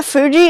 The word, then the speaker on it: Fuji: Yeah, Fuji is 2 syllables.